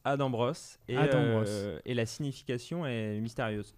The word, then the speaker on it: Adam Bros: Ça se prononce Adam Bros.